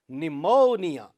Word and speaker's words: pneumonia: Pa letter is silent in the word pneumonia.